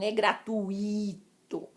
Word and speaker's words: gratuito: Ela é gratuita, ela não é gratuita, não é gratuito. A sílaba tônica não é o i, é o u.